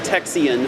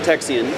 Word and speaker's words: Texian: fighting for independence and Texian freedom I did not mispronounce that Texian and it was a